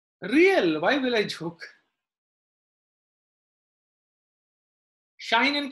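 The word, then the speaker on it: sinh: Shine and cosh. It's not a mispronunciation. It's the pronunciation that we use for hyperbolic function.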